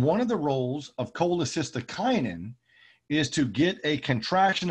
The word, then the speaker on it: cholecystokinin: digestion hence the name gastrin we then have cholecystokinin that's how you pronounce that weird word cck is pronounced cholecystokinin